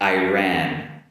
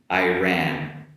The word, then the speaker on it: Iran: My first are two countries that are similar uh in sounds and the first one is going to be uh Ireland, Ireland compared with Iran Iran. Ireland Iran.